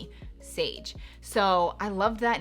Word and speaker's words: Saige: for a girl and it was Sage. And it's spelled differently. I wanted it to be spelled S-A-I-G-E. Sage.